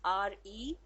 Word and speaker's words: receipt: So the correct spelling is RECEIPT. P is silent here, so that is pronounced as receipt.